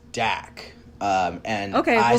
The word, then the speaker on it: Dak: I think uh Doc, is that how we say his name? Doc H. So I heard it as Dak.